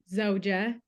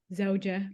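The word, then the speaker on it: زوجة: the same word, but the wife gets a little bit of an eh sound at the end. So zawj for husband, zawja for wife.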